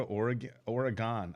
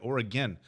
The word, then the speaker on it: Oregon: I said Oregon, like how it's spelled, Oregon. Hey, it's great to be here in Oregon, and the whole crowd booed me.